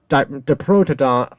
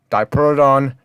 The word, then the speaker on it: Diprotodon: I think that right side, Diprotodon, whatever right side pronounce it, that's acceptable. Diprotodon, Diprotodon.